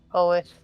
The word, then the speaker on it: Hoeth: Is it pronounced Hoeth? Hoeth? The Hoeth. elfin god of Hoeth. Okay, it's Oh, Hoeth.